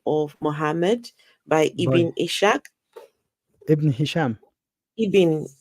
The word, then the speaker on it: Ishaq: called The Life of Muhammad by by Ibn Ishaq. Ibn Hisham, Ibn Ishaq.